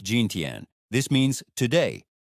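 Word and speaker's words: 今天: Gintian, it sounds like ginten.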